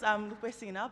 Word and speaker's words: Lupesina: So my name is Lupesina, but most people call me Lupe, and I